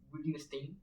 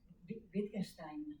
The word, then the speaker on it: Wittgenstein: Acordaos siempre, esto yo siempre lo digo con relación a Weber, acordaos de que la W se pronuncia como B en alemán y de manera diferente en inglés, como el inglés el inglés tiene tantísima presencia, Sí.